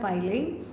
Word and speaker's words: filing: देखो, FILING ये होता है फाइलिंग, और FILLING ये होता है फिलिंग, ठीक है। प्रोनाउंसिएशन में कंफ्यूज मत होना।